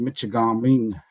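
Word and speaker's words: Mishigami: I'm joining you from the great state of Michigan, traditionally pronounced Mitchaming, uh, which translates from across the water.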